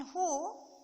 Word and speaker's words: who: Some WH words also make the H sound, such as in who and whom. Who and whom. Here only we should pronounce only H.